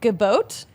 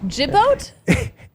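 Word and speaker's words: Gibaut: um double points Ian gabot I would have said gabo but it's actually Ian jibboat I don't think there's a t but the way he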